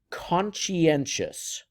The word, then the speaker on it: conscientious: This word is pronounced conscientious.